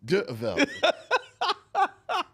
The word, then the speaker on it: D'Urville: SO THAT'S D U R V I L L E Mr. Mr. Martin. Uh no, that's D apostrophe. It's actually French for D'Urville. It's French for what? D'Urville.